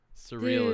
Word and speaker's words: Suriel: nice to meet you surreal is how you pronounce my name surreal yeah it's like the word wow dude you got